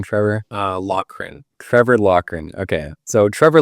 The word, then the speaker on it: Loughrin: Loughrin.